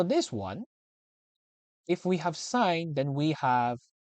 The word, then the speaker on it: sin: Theta this word seen it's pronounced as sign okay sign okay so